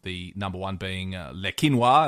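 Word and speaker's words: Le Quesnoy: number number one being leino as it's pronounced but um spelled leeso which in incidentally a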